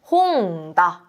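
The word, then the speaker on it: 本: 요 책이라고 하는 한자는요, 일본어로 홍이라고 읽게 됩니다. 홍, 이 책이 되는 거죠. 우리가 이 단어로 책이다 라고 할 때는요, 명사이다 라고 할 때 일본어는 명사다가 되어서 홍다 라는 표현을 만들 수가 있어요.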